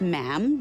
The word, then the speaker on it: ma'am: For instance, when you're addressing the Queen, she is Her Majesty, and after that is just ma'am, rhymes with jam.